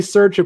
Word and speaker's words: Sercia: You're the closest at Sercia.